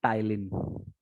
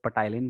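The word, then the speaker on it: ptyalin: क्या है, biological name टाइलिन। टाइलिन नाम है, पी साइलेंट होता है, कुछ लोग पटाइलिन बोलते हैं, बट पटाइलिन वाला पटाना नहीं है, ये टाइलिन है, ठीक है।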